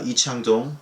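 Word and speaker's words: 이창동: So just for newcomers, I'm going to briefly talk about the filmmaker, Lee Chang-dong, that is the Korean pronunciation.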